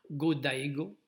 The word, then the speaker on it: Go-Daigo: Je ne suis pas certain comment on prononce ce nom, mais on prononce généralement toutes les voyelles, donc Go-Daigo, 96e empereur du Japon.